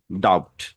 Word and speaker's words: doubt: তাহলে দেখেন, সবগুলা সঠিক পড়েছেন, বাট হচ্ছে এইখানে ডাউট পড়েছেন, বিটা পড়েছেন, ডাউট।